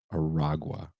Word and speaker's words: Aragua: Aragua.